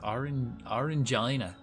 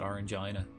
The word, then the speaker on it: Orangina: The only fizzy drink I'd say I like is orangina. Definitely. Every time every time I see that, I have to pronounce it orangeina because it's a way better way to pronounce that.